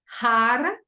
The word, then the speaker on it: Har: hop on va s'asseoir bien confortablement on va prononcer un mantra le mantra c'est har H a r har H a r e